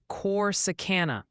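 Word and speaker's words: Corsicana: And a quick heads up, chat confirms it's pronounced corsana for corsana.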